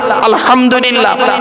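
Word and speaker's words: الحمد لله: সূরা ফাতিহা পড়তে গিয়ে আলহামদুলিল্লাহ, আলহামদুলিল্লাহ, এই গলার ভেতর থেকে এটা উচ্চারণ করবেন। হায় হুতি, হায় হব্বাজ নয়।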